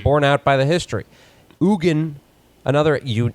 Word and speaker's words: Eugen: So for a while I thought it was just like Eugene or Eugen, which would be like maybe eugenics was named after him, but no, it's the Swiss pronounce it Eugen.